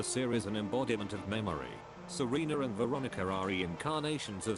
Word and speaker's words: Serena: about the power that serena and veronica have uh i i say serena because serena is actually and veronica too are actually italian names so uh that's we pronounce it in italy um so i was